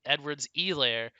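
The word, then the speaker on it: Edwards-Helaire: have to like emphasize the e and there's no h it's really like twitter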